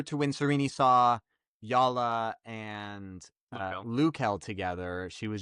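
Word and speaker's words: Jalla: Which means the j would be pronounced as a y.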